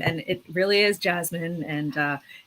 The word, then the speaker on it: Jessamine: small child in which i've been telling people to say it's jasmine even though it's clearly spelled like jessamine because my my parents